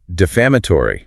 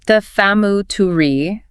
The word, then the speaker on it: defamatory: Then we have defamatory. Defamatory. Stress on the second syllable.